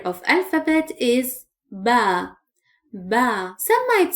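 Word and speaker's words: ب: What matters here is the sound of this letter, how to pronounce this letter, which is very easy because it sounds exactly like the letter B in English.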